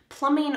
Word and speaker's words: plumbing: Plumbing are the pipes that bring the water to your faucet and then away from your drain. Notice that the B here is silent. Plumbing, plumbing.